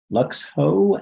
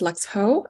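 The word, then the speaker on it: Luxho: the opportunity to testify my name is Lux ho l-u-x-h-o and I'm the Georgia field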